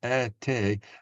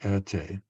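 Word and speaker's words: Erté: And Erte was Roman de Tertov, a Russian-born French artist, and Erte, how you would pronounce his initials in French. So it's a nom de plume, if you like, Erte.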